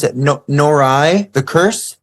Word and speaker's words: Noroi: Ooh, what did I see that I want to say, I'm going to mispronounce it. Norai, The Curse. Noroi, so good.